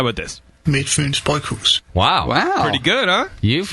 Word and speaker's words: Midtfyns Bryghus: In Denmark, we pronounce Midtfyns Bryghus as Midtfyns Bryghus. All right. Yeah. We pronounce train as train. Hi. In Denmark, we pronounce Midtfyns Bryghus as Midtfyns Bryghus.